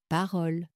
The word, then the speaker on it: parole: Mais attention, elle produit généralement un O ouvert.